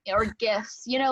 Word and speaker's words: GIF: So that one's interesting because it's technically it's supposed to be said GIF with a hard G. However, the person who coined the term pronounces it GIF.